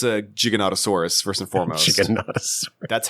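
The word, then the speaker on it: Giganotosaurus: It's a jiggonottosaurus.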